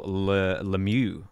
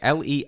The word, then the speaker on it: Lemieux: Lemieux, or Lemur. I don't know how to pronounce it, sorry.